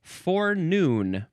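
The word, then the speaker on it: forenoon: H, now we have for noon. For noon. Yeah, noon. N O N. You can emphasize either syllable.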